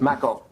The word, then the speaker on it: Macko: Macko, because I think I was mispronouncing your name. I have a friend, Jeff Macker, back in Boston. It's a true story. And so my apology for So it's Macko.